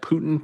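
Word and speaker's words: Путин: Putin. P-O-O. This first part. P-O-O-TIHN.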